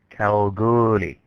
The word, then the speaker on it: Kalgoorlie: you pronounce that word so how do you pronounce that word kalgoorlie now to show you how remote kalgoorlie is